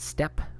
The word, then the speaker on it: steppe: This is how you say it, steppe, like a stepping stool, or the steps on your house in two-story.